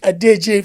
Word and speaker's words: Odeje: How did I did I pronounce your name right? And please can you correct us first of all? No, you did. You pronounced it quite right.